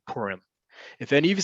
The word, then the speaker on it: Purim: but just know that in modern hebrew it's purim okay or purim either way the accent like we've talked about many times is on the last syllable not on the second to last and it's a long vowel there's a reason why